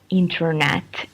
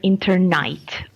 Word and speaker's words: internet: don't know why but usually they cannot pronounce the word internet and uh I came across uh to hear internight internight and when I tell them like uh letter by letter n t or n a t they can say net but alt together it's always internight so it's very difficult